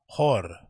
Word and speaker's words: HÖR: Okay, how you pronounce it? HÖR. HÖR.